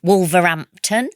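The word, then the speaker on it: Wolverhampton: Uh from Wolverampton, I'm going to pronounce the H. Hampton, but if I really it's Wolverampton and it's right in the middle of England next to Birmingham and Coventry.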